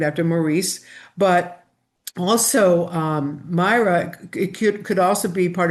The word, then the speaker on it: Myra: And say mirror, mirror. And it's like, no, it's Myra.